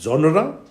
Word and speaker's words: genre: gave you this example to pronounce the word correctly that is genre the two syllables are there coming to uh number